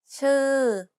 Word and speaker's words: ชื่อ: ชื่อ Did you pronounce the vowels correctly? One of the vowel sounds doesn't exist in English. It's the unrounded U.